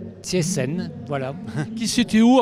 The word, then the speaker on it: Cieszyn: Alors c'est très difficile de dire que c'est exactement comme ça, parce que les accents polonais sont un peu différents. Moi je le prononce Cieszyn. Cieszyn, voilà.